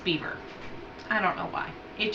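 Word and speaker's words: Biewer: I think it's spelled like beer Terrier it's pronounced beaver I don't know why it just is I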